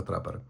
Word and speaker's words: TRPPR: Назва складається тільки з приголосних trп. Якось отак. Однак вони самі говорять про те, що вимовляти це треба трапер.